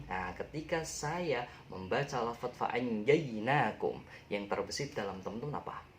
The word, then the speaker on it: فَأَنْجَيْنَاكُمْ: Nah, ketika saya membaca lafaz fa'anjainakum, yang terbesit dalam teman-teman apa? Ya, jinak. Ya, jinak, tapi bacanya jainak. Kayak bahasa Inggris ya. Jainak, bukan jinak tapi jainak.